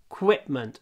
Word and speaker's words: equipment: qu over my teeth equipment not creep quip quip make your lip come down equipment in the gym